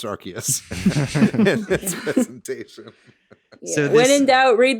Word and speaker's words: Arceus: say this arceus uh arceus i always said arceus until they were like it's pronounced arceus presentation when in doubt read the katakana first